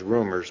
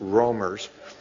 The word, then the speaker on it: roamers: call those rumors and I mispronounced that in one of the things and it came out as rumors but it's roamers let me also start